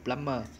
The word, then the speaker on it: plumber: Plumber. Remember, we don't pronounce letter B, a plumber.